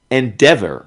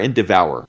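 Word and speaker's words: Endeavour: Um Endeavor. Uh well, I don't know if it's Endeavor or Endevour. Uh cuz it's spelled end devour and I think that's the point. So it may be N devour.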